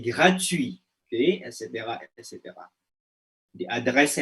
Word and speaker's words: gratuit: Ah, c'est gratuit, bukan gratuit, c'est gratuit.